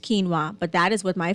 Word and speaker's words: quinoa: quinoa for example two UI in a way pronounced quinoa but that is what my family uses as